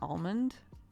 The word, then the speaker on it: almond: it that way I tease my friend for pronouncing the L and almond wait do you just say almond how do you say almond without pronouncing the L he says it like